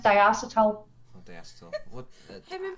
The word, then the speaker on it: diacetyl: air, and someone linked Diactyl to popcorn lung, which is basically COPD. Your lungs don't actually explode, and Diactyl isn't even in most e-liquids today. Yeah, Diactyl. It's pronounced diacetyl.